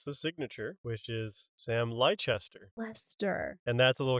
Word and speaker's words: Leicester: But in England, there's a place called Leicester, and it's spelled Leicester.